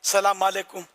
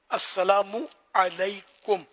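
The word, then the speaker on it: السلام عليكم: किसी के सही हो, बाकी सलाम अलैकुम ये तो दुआ नहीं है। तो अस्सलामु अलैकुम ये है दुआ, तुम पर सलामती हो।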